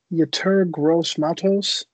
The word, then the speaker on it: Yetur Gross-Matos: With the 29th pick, the Titans will select Yetur Gross-Matos. Is that how you say his name? I might have completely butchered it. It's perfect.